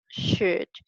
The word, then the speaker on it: should: now remember the pronunciation we do not pronounce another L and we just say should we should mainly to